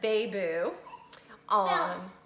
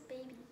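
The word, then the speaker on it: Baiboo: So, Princess Beiboo. The Beiboo is spelled B-A-I-B-O-O. B-O-O. There you go. Everyone thinks it's Princess Baby. Baby? No. Some people do.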